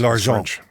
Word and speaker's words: L'Argent: So, pronounce the title, please. L'Argent.